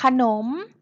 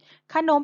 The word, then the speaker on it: ขนม: สระ อะ ค่ะ คือ ขนม ขนม เป็น คำ ที่ ไม่ ประวิสรรชนีย์ ใช่ ไหม คะ ลูก เพราะ เวลา เรา